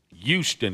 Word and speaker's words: Houston: Houston is how you say it. Houston. You leave the H out of it, and it's just... So there you go.